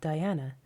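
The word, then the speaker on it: dhyāna: the most important is the Sanskrit Diana mispronounced in Chinese as Chan and again mispronounced in Japanese as Zen thedas never got involved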